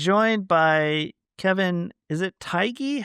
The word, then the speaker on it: Tighe: Is it Tighe? How do you pronounce his name? Tighe? Kevin I thought it Tighe? was Teague. It Ti- just sounded like Teague? Teague.